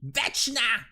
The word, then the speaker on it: Vecna: That's how you actually pronounce the name. Vecna.